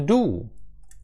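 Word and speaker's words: du: Ти ти німецькою мовою do. Do do. Doч складного, але зверніть увагу, що буква д звук Д в німецькій мові, він вимовляється трошки інакше, ніж у нас. А язик треба підняти вгору до альвеол.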